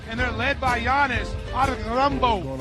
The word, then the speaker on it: Antetokounmpo: And it felt like only people in Milwaukee knew how special he was and how to pronounce his name. Giannis Antetokounmpo Antetokounmpo Antetokounmpo for three.